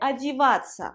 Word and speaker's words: одеваться: Alors, le verbe déjà, c'est одеваться. Одеваться. Ces quatre lettres-là se prononcent ца, ца. Одеваться, одеваться, ца, ца.